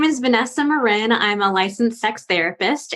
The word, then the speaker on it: Marin: with me oh and my last name is pronounced Marin that most people say Marin okay yeah only bay